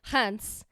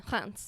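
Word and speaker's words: Reims: get to saying it it's almost like rents but like hunts okay that's how I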